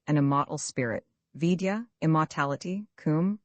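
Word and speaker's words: Cwm: Kum pronounced like the Welsh Kum denotes something of hollowess.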